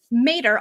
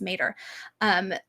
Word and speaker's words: Mater: Mater, although it's the wrong pronunciation of it, is the Latin word for mother. And you often hear it pronounced when it's used in Britain, pronounced as Mater.